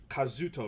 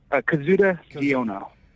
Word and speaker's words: Kazuda Xiono: And you voice Kazuto, right? Is that how would you pronounce it? Kazuda Xiono.